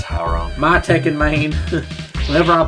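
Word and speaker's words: Hwoarang: and I looked at, excuse my pronunciation, Howrong, or whatever his name is. Hooray. Howrong. It's Howrong.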